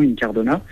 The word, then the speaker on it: Incardona: m'appelle Incardona donc au niveau de la prononciation Incardona j'habite à la base aussi F les plages